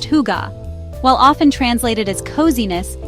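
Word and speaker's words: hygge: One of the most famous Danish concepts is Higa, pronounced huga.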